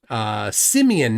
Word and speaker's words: Simeon: Simeon, not Simon.